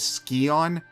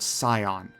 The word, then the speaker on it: Scion: to as the Scion the voice actors repeatedly pronounce this as skon but I'm assuming that the devs meant it as how you would pronounce the actual word Scion Lara has no clue